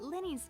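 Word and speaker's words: Lyney: made us realize that Lenny's case and my father's may be related so they pronounce it Lenny it looks like L investigate the details of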